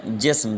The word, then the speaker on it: جسم: جسم۔ جیم کے نیچے زیر، سین کے اوپر آپ ساکن لگائیں گے، اور اس طرح میم